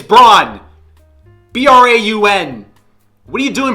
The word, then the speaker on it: Braun: down whatever 17 20 Christian Braun Braun brown brown Braun it's brawn b-r-a-u-n what are you